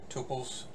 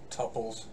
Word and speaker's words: tuples: advanced concepts in here tupes tuples two different pronunciations same concept talked about them before